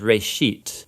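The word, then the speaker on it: רֵאשִׁית: Genesis comes from a Hebrew word. It's pronounced reshit, and it just means beginning.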